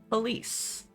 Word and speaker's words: Police: Police. Police. It's pronounced police. Police. I'm from the South.